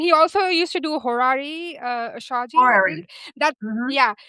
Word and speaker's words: horary: A horary question which is a very difficult word to pronounce. H O R A R Y horary.